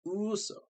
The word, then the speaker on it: Uso: It's pronounced USO. So USO is a distinctive sound.